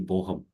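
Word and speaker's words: Bochum: floor is yours you can yeah you can pronounce Ro University boham okay okay good to know so all right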